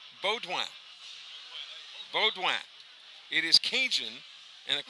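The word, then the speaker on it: Boudoin: Malik McNair Hampton Bowdoin the spelling of his last name is b-o-u-d-o-i-n but pronounced Bow Down Bowdoin beaudwan it is Cajun and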